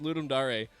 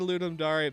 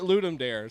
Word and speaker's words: Ludum Dare: how to % pronounced Ludum dari that's funny when I first started Ludum Daria back on 40 - yeah 42 I called it Ludum dare somebody had to correct me I felt so embarrassed